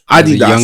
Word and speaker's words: Adidas: Adidas. That's how you pronounce it properly.